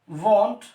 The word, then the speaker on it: want: इसको वांट कभी मत बोलना, इसको बोलने की कोशिश करना हमेशा वॉन्ट।